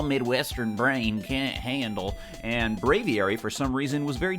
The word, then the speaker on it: Braviary: And Benjamin New Duval, oh god, now I need a pronunciation for his name, followed up by saying Braviary.